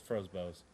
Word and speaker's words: Frobose: first guy is uh Anthony Frobose, Frobose, I think. I don't know. It's Frobose. It's hard to It's hard to pronounce, but the guy was